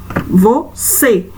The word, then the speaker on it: você: Depois nós temos a palavra você, você. Então, você é um som fechado, mas é no vó ou no C? Qual é a palavrinha, a sílaba aí, que tá dando esse som mais fechado?